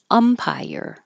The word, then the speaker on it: umpire: on the end unaware umpire the stress is at the beginning umpire uh overtaken second to